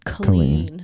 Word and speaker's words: Colleen: more amazing is that her name is spelled Colleen and she pronounces it clean can you scoot this